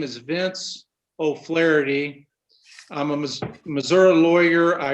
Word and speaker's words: O'Flaherty: secretary uh mr chairman my name is vincent o'flaherty can you hear me yes sir i i